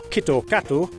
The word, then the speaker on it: KitKat: pop culture for instance to japanese speakers the name kitkat often pronounced kito kato sounds similar to the